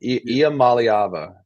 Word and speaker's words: Iamaleava: Iamaleava.